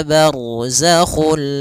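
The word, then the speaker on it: برزخ: Barzakhu, ra tebal karena ada huruf ra yang sukun didahului dengan fathah. Ini kondisi-kondisi nanti belajar di dalam bab hukumur ra'at, ahkamur ra'at. Kemudian barzakhul la yabghiyan.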